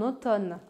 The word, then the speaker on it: automne: août au prince en automne première chose intéressante c'est que nous écrivons ottomane mais nous nous prononçons automne on sait maintenant que